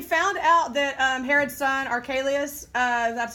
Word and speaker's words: Archelaus: Okay, so he found out that Herod's son, Archelaus, that's how you say it, who was just as bad or worse than Herod the Great, was in charge of Judea.